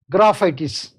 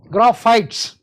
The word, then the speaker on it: Graphites: Then next remedy is graphitis. Graphites. So I have got tendency to call it graphitis. I pronounce that is wrong. Graphites.